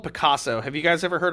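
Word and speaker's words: Pacaso: interesting guys is um there's a group called picasso have you guys ever heard of picasso now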